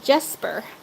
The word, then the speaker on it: Jesper: Daughters called him Jesper. Jespar or Jesper? I always think Jasper. Jasper is like the more common pronunciation of that kind of stuff up here, but it looks like it's spelled slightly different.